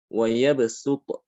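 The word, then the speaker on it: يبصط: Tapi cara pengucapannya adalah dengan sin. Wa yabsutu.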